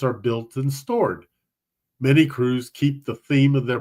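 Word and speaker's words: krewe: so I think it's despite the fact that it's spelled k r we it's it's probably a lot like we recognize crew is cew so it'd be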